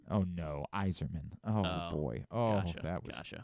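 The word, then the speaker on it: Yzerman: Stevie Zerman. Oh, no. Iserman.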